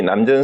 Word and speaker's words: 남전: 그런데 이제 이 내용이 남전 스님의 이 대답이 나오기 전에 조주 스님이 남전하고 대화하는 끝에 이게 나왔어요. 앞에서는 조주가 뭘 물었냐 하면은요. 조주 스님 스승이 남전인데 남전이라고 읽어요.